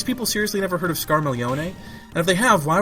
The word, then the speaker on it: Scarmiglione: The character's name is Scarmiglione, which involves that GL sounding like la thing that so many people have trouble with in Italian, like familia or battaglia. But yeah, his name is Scarmiglione, which is spelled S-C-A-R-M-I-G-L-I-O-N-E.